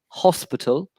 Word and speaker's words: hospital: remember, a hospital. You pronounce your H, so you have to.